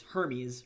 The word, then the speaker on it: Hermes: like I I personally one of my patron gods is Hermes and it's Hermes, right? And then they look at